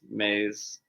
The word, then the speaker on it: Mais: you pronounced my name right. It's Mais.